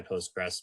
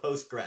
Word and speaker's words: Postgres: Kobe, it's Postgre. Our French friends tell us. I always say it wrong. Yeah, Postgre. Sorry. You never want to hear you say Post. Apparently, they said in a very French voice. Only dumb Americans you call it Postgres.